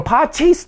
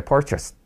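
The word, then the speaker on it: purchase: ありますねだこのパーチーズって発音すると結構いたりするんですけどこそかチーズみたいね違いますのでパールキャスって言うにつ選んでくださいねさらには実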